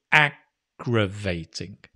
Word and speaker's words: aggravating: irritating aggravating notice with again the stresses on the first syllable aggravating the drilling is aggravating